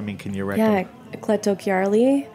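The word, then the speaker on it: Cleto Chiarli: for me I mean can you Rec yeah cletto Kari spell c l e t o n c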